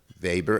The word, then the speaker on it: Weber: By the way, when I went to college, I thought there were 2 great German sociologists, Weber and Weber. And I only had realized that I only read about Weber and heard about Weber. It's spelled W-E-B-E-R.